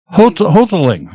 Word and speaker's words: Hodling: He's telling you how to say it. Just Hodling. So I was not too far off.